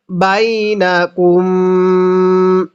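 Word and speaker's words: بينكم: এরপরে বাইনাকুম। এখানেও গুনাহ করব। কারণ এই মিম সাকিনের পরে বা আছে।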